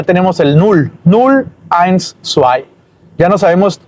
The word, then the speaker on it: zwei: La W como U y la E junto con la I como A.